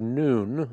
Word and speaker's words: noon: of the Arabic alphabet we use the word noon that's how you pronounce it to describe this letter